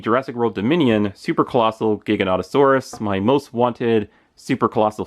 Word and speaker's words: Giganotosaurus: the Super Colossal Giganotosaurus, or as I used to call it, the Gigantosaurus, because I never knew how to pronounce this dinosaur's name until like a few days before the movie came out.